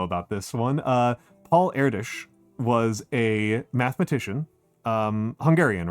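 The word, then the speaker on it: Erdős: Uh is it Erish? Yes, it's Erish. Yeah. You know Erdish.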